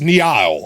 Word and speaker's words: Niall: It's Niall, okay? I understand how to say your name, obviously. How could I possibly get your name wrong? It's just like the river, Niall.